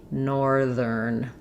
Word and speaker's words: northern: Be aware that even though we have north, this th is voiceless. TH. No vibration here. In northern, it changes to the voiced ther sound.